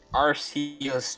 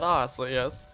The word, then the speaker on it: Arceus: Arceus, Chansey, Blissey, Charmander, Dratini, Gardevoir, Geodude, Golem, Gyarados,